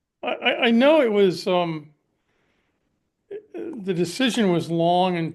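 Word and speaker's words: Wasm: What are people's opinion of of of wa wasum? Is that how you pronounce it? Wasom. Yeah.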